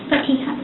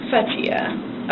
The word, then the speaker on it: Fatiha: Fatiha. Fatiha. Okay. Your family was, like, pronouncing it with a P, so I just want to make sure I'm pronouncing it correctly.